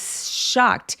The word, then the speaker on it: shocked: 그래서 shock 엑 소리, 무성음 뒤에 ed가 표현되면 요거는 통째로 어떻게 발음한다? 똑같은 무성음 소리로 트로 발음한다. 그래서 요것만 발음하자면 어떻게 돼요? shocked 라고 발음하시면 돼요.